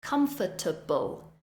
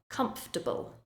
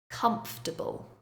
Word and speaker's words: comfortable: demonstrate with some examples first we have comfortable a very common mistake that Learners make is they say comfortable and they sound every syllable of the word but it is not in fact comfortable when we are speaking fluently we say comfortable comfortable another one vegetable we